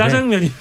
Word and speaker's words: 짜장면: 우리 박영식 에디터는 명앵커 출신이기 때문에 자장면 이렇게 발음을 하시는데 짜장면이 한때는 됩니다. 자장면만 표준어가 돼서 둘 다 써도 됩니다.